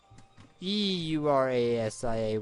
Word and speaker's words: Eurasia: I'm calling it Eurasia, that's how it's pronounced.